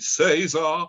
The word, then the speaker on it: César: And to his class, and they sing by César Franck, and it's pronounced it César.